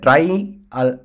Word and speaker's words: trie: ஸோ இதை ட்ரை data structure தான் நம்ம ப்ரொனவுன்ஸ் பண்ண போகிறோம்.